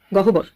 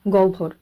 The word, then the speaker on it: গহ্বর: উচ্চারণ একটু অন্যরকম হবে এখানে সঠিক উচ্চারণটি হয়ে যাবে জিউভা আওভান এবং গ ভর কোন পদ্ধতিতে এই শব্দগুলির